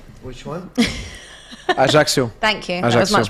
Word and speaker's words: Ajaccio: Ajaccio. Thank you. That was much better than how I was going to pronounce it.